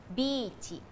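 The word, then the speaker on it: ビーチ: แล้ว กัน นะ คะ คำ ว่า Beach ออก เสียง แบบ ภาษา ญี่ปุ่น คือ บิ ชิ ชิ ก็ คือ ชิ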